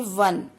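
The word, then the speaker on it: one: next देखिए वन, अब ओ नहीं देखना आपने, ओ की प्रोनाउंसिएशन क्या है, व, तो क्या लगाएंगे आप यहाँ पे,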